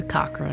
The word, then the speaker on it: Cochran: Cochran.